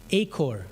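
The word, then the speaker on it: Achor: Uh how do you pronounce the guy's last name? A C H O R? Aker? Acor, yeah.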